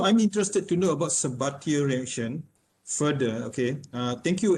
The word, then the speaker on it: Sabatier: from biogas, whereas the second reaction is the Sabatier reaction. The what? For the Sabatier. Sabatier reaction. Okay, Sabatier. Let me just spell it slowly so that the others can also know.